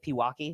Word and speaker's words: Pewaukee: Is that how you pronounce it? Pewaukee. It's Pewaukee. Yeah. Milwaukee. Okay, here we go.